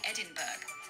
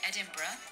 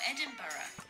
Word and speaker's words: Edinburgh: actually pronounce its name many nonnative English speakers say Edinburg which is not exactly how it should be pronounced should know in fact